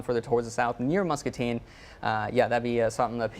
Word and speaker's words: Muscatine: Muscatine?